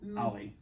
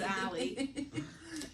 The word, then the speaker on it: Allie: Like your name, Ollie. Yeah, It's Allie.